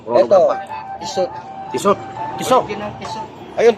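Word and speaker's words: Tissot: Tisot. Tiso ng tisot. Ay ang tamang pronunciation ng tisot.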